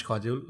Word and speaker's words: काजोल: मेरे नाम को वो शुभंकर करते हैं, तो मुझे कई बार काजल को कहीं काजोल तो नहीं कर दिया. नहीं वैसे ही है. Actually it is काजल which is pronounced as काजोल, but I like the pronunciation of काजोल.